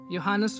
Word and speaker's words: Johannes: इसका नाम है आर्ट of painting, painted bye Dutch artist योहानस वर्मीयर, J silent है।